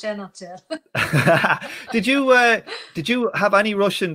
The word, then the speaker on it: Zhenotdel: Zhen, it's just Zhen. Like, yeah, it's the second part that gets me. It's the Zhenotdel.